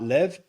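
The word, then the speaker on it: לב: The Hebrew word for heart lev. It's spelled with a lame and a bait.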